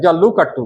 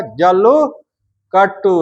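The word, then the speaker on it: जल्लीकट्टू: जल्लू कट्टू क्या बोला जाता है रे भाई आपका? जल्लू कट्टू। है ना? थोड़ा सा प्रोनाउंसिएशन गलती कीजिएगा तो मारपीट हो जाएगा।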